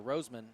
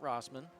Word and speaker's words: Roseman: roseman like the flower roseman not rossman um so thank you for that that's bob mccloud informing us of that his cousin out in california text it in or what's what's the confirmed pronunciation again roseman roseman before the game i was clarified on that as rosman but the clarification was wrong there is a little